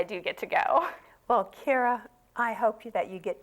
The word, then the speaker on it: Keira: And I want everybody to try to go to the website for Keira Gillett, and it's Keira, and it's Gillette.